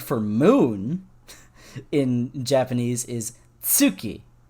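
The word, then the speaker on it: 月: moon in japanese is tsuki like you pronounce it with a t at the beginning and it's so close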